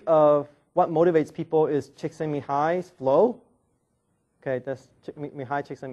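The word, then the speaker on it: Csikszentmihalyi: so another theory of what motivates people is chicken Mi high flow okay that's Mii chcken Mii I actually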